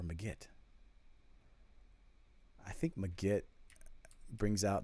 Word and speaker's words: Magit: still using legit um magit see i can't do it both i can't use the soft g with ma has to be ma magit or magit shoot magit or megit i think magitt brings